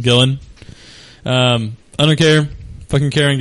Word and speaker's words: Gillan: How do you say it? I think it's just Gillen. Gillen.